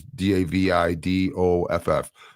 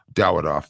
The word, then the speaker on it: Dawidoff: And that's his last name is Davidoff. Dawidoff, though, is the pronunciation.